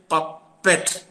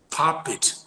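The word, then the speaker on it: puppet: t pa so we have a tendency to pronounce that p u p p e TS papet papet why it's because of papam that double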